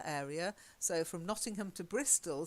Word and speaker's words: Bristol: So from Nottingham to Bristol, suddenly the pronunciation changes dramatically. Bristle instead of Bristol, Okay. and everything ends in ul.